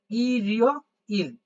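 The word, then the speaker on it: 일요일: আমি এটা লিখে দেখাইছি তাইলে দেখেন কি হবে ই রিও ইল তাহলে দেখেন এখানে পূর্ণাঙ্গ একটা ই টা উচ্চারণ করবেন এখানে পূর্ণাঙ্গ ই টা উচ্চারণ হবে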